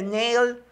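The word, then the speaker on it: Nahle: unos me dicen que no se dice nale se dice nail A quién le importa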